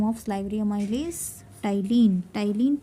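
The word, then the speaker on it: ptyalin: of liary Ames tyen tyen p is silent here tyene is the enzyme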